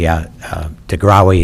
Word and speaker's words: DeGrawi: DeGrawi is actually the correct pronunciation. I know that because they were my neighbors in Cherville for 14 years, and it took me that long to realize how their last name was really pronounced.